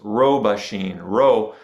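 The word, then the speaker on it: 老婆心: However, if you look at the specific Chinese characters for this, they are robashin. In Japanese, it's pronounced robashin. That beginning one is the ro, same ro as in roshi.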